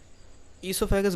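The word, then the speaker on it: oesophagus: इससोफेगस बोलते हैं लेकिन ओ साइलेंट रहता है।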